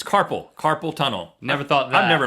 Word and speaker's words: carpal tunnel: A lot of people say carpool tunnel. Like a lot of people say gas by going together to type. Carpool tunnel. It's carpal tunnel.